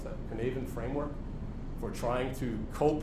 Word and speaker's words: Cynefin: I don't know if anyone familiar with the Cynefin, that's how you pronounce that, Cynefin framework, for trying to cope with this increasingly